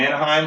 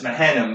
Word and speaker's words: Mahanaim: I'm going to call it Manaheim because Manaheim Sea Rolls. It's not. It's Mahanaim, but but that's what I'm going to.